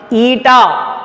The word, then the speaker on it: eta: That constant is pronounced as eta. How we can read it is eta.